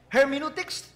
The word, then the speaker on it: Hermeneutics: Hermeneutics, they say that's the way it should be pronounced.